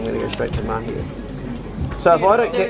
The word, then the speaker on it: Mahia: Mahia, how do you spell that?